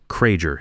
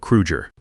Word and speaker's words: Krueger: He mispronounced Hans's name, Krager instead of Kruger, called him Herr instead of Chairman Kruger the way Hans preferred in English.